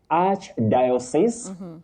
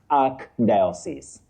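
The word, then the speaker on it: archdiocese: Now Betty, that combining form takes the sounding arch. Arch, not ark. Archbishop not ark bishop. Okay. Arch diosis, not ark diosis.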